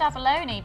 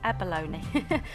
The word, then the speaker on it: abalone: well I've always said Abalone because that's how it's usually pronounced in New Zealand and it's a native gemstone of New Zealand we'll go with that then Abalone I'm married to a